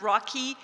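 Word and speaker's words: ROCI: overseas cultural interchange project known as ROC I pronounce rocky a named after his pet turtle the project took place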